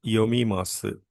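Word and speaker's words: 読みます: So the Japanese verb for reading is yomimasu.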